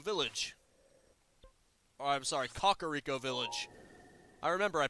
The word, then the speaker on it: Kakariko: remember I pronounced it I've been pronouncing it wrong because the king said Kakariko village sorry about that if I want to know how to pronounce it I just have to think of chickens try soothing with L